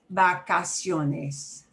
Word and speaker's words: vacaciones: Last one with a hard B, or harder. Vacaciones.